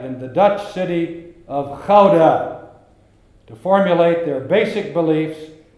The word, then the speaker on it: Gouda: the Netherlands would be to ask him or her to pronounce the word Gouda. The Dutchman would pronounce it Gouda. Someone who is not Dutch will invariably pronounce it Gouda.